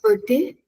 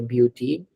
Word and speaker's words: beauté: So it's not beauté Hmm. or beauty. Can you say that now, Aishwarya? Beauté. Yes. So EAU sound in French is exactly the same as O sound in English.